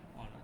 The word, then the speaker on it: honor: Here H is silent. We cannot pronounce H here. We usually not pronounce the H here. So before here hour we use an, before honor we use an. It is not honor. You cannot pronounce it as honor or hour.